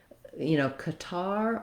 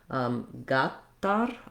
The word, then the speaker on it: Qatar: So depending on, I would say going with fairly equal stress across the two is going to be safe because, Qatar or Qatar is so clearly different which syllable is stressed. And when I listened to Arabic speakers, it was harder for me to hear. I didn't hear a really strong gatar or gatar. I heard kind of equal across both.